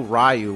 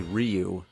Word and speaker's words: Ryu: like in Street Fighter we didn't know rayu was actually Ryu Blanca some people say